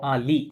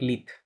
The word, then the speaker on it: lit: un lit হুম ও লি নট লিথ T silent ou un lit হ্যাঁ